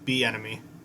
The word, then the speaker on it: Bieniemy: It's like I just think of enemy and B beforehand, just like the letter B and enemy. Bieniemy.